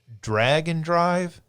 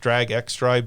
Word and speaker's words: Drag x Drive: There is a game called Drag and Drive. Um, I've heard it pronounced Drag X Drive, but in the trailer they pronounced it drag and drive.